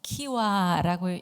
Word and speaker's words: KYWA: 한국 청소년 활동 진흥원의 영어로 된 약자를 보면은 kywa 그래서 키와라고 읽습니다 그래서 키와 키와 이렇게